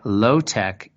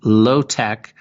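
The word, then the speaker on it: LO—TEK: We can rewild our urban landscapes and apply low-tech ecological solutions to drainage, wastewater processing, flood survival,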